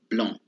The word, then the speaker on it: blanc: Is on, A-N, on. And you have to use a little bit your nose when you pronounce. Comme blanc, as the word blanc is the color white.